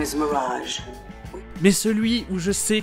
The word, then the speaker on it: Mirage: Et Mirage, c'est un de ces mots français qui existent en anglais et qui se prononce comme en français. Enfin, comme un anglais qui prononce des mots français.